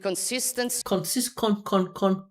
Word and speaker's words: consistency: We have followed it with consistency. Cons. This is a reduction. If you pronounce that con, it's too perfect. It breaks the rhythm. It starts to sound like it's important.